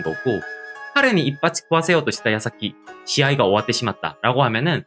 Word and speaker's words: 矢: 이 화살 시자는요 파생 어휘면이나 사용 빈도면에 보아서도 훈독인 야에 보다 집중하셔서 학습을 하셔야 되는 한자입니다. 그래서 훈독은 야 라고 읽고요.